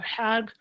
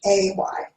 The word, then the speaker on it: Hay: You mentioned Louise Haig or Hag. Could you spell her last name? Because I have. Yeah. Yes. Louise Hay, it's spelled Louise, and her last name is Hay, like you feed horses hay.